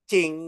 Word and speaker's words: Jing: Oh, yang Esensi Jing itu dibacanya Qing ya.